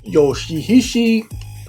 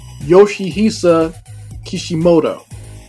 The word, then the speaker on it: Yoshihisa Kishimoto: a game developer uh Yoshi hishi oh I'm sorry let me pronounce his name correctly yoshihisa Kishimoto and apparently he claims that